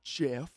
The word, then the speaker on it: GIF: that person that's like it's actually pronounced jiff like the peanut butter you know i don't